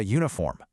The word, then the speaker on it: uniform: Because of how they sound, not how they're spelled. Even though they start with the vowel U, they sound exactly like they start with a Y, like you. Because of that hidden consonant sound, we say a uniform.